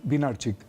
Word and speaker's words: Wynarczyk: de la Universidad Nacional de San Martín, Hilario Winarczyk. Digo bien el apellido, ¿no? Sí, a rigor es Winarczyk, pero se escribe Winarczyk.